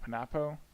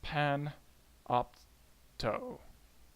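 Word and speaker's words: Panopto: My campus, we do this thing called Panapo. I don't know how to pronounce it. That seems the most right. Okay. It's Pan Opto.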